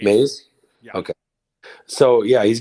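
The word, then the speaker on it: Mize: He actually has a great record against Mizzy, or Mays. How do you say his name? Casey Maze. Mays.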